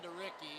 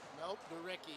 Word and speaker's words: DeRicky: Damhoff, Milnes, Anderson, DeRicky. Is it DeRicky? Is that how it's pronounced? DeRicky, yep. It's not DeRick? Nope, DeRicky. Really?